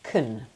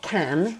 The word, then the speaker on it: can: And yes, for you to pronounce this in a weak way, you would say can. So it's not can, it's not an open a sound. It's a very like kind of um unstressed weak sound.